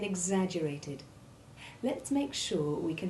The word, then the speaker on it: exaggerated: The X2 sound is made up of the hard G sound followed by hard S1 or Z, as in eggs, and in our opening sentence we heard it in exaggerated.